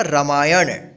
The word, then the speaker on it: रामायण: देखिए यहाँ पे अण का उच्चारण हो रहा है ना, रामायण। ठीक है, अगर कोई बोलता है लिखिए रामायण, तो आप नाम लास्ट में मत लिखिएगा। ठीक है, ध्यान रखिएगा, अण ही होगा, रामायण।